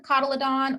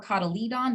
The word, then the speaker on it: cotyledon: fives for the dicots one cotyledon or cotyledon depending on who taught you how to pronounce it in monocots and